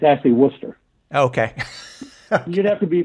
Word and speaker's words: Worcester: Although almost everyone pronounces it as Wooster. It's actually Worcester.